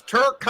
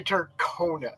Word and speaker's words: Turkana: But it's Turkana. I've known him since CRoM Con 1, and I still screw up sometimes and say Turkona.